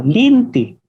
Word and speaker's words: lente: Por ejemplo, la palabra lente se puede escuchar como linti.